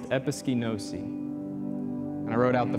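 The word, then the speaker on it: ἐπισκηνώσῃ: And they come from one Greek word pronounced episkinosi. And I wrote out the phonics for that just to help me out. Episkinosi.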